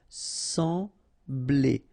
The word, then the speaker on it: sembler: Sembler. Remember, we've got this EM here, nasal, en, sembler. Sembler.